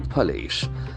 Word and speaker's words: police: It is Delhi police. Delhi police. Okay, the POLICE is a beautiful word. We can see the letter O here after per sound, but it is pronounced like a sound, like a police.